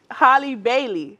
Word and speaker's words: Halle Bailey: all these names crazy Haley Holly how do they call they call her Holly Bailey Holly Bailey thank you so much